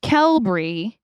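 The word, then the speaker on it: Qelbree: and Z's in our drug names yep anyway kelry the correct term for the mechanism of action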